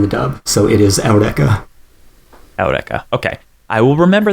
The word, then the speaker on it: Eureka: as Eureka is spelled, and then they still pronounce it like that in the dub. So it is Eureka.